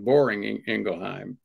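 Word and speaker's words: Boehringer Ingelheim: you know number one I've never heard that pronunciation for Barringer ingelheim but I think it's maybe a pretty good one boring ingelheim that's what they call it um the uh you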